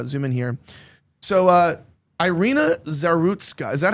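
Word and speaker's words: Iryna Zarutska: So, uh, Ireina Zarutska, is that how you pronounce it? Cuz that's how I've been pronouncing it. Arena Zarutska.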